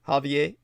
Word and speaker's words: Javier: Javier? How did you say that? Javier. Javier. Yeah, with that nice roll of the R.